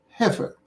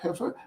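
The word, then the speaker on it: heifer: don't know the word heer uh don't don't feel ashamed it's rather rare word h EI f e r but uh the middle is not pronounced the way it is spelled so he he is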